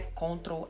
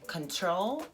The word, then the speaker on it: control: Então não é "cóntrol alt del", É "contrôl alt del".